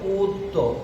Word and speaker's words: অদ্য: যেমন দেখো এখানে অ আছে, এর পরে ধ্বনিতে জ ফলা আসছে অদ্য, তাহলে এখানে অদ্য যদি বলি উচ্চারণ হবে উদ্য, ও এর মতো উদ্য। এখানে উচ্চারণ হবে অন্য, কারণ অ এর পরে জ ফলা আসছে।